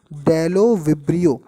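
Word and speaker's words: Bdellovibrio: तो इसका नाम पहले तो देखो बी लिखा है लेकिन डी है, लेकिन आप इसको डी से पढ़ना। बोलो कैसे बोलोगे, डेलो विब्रियो, बी साइलेंट है, डेलो विब्रियो बैक्टीरियोवोरस, खुद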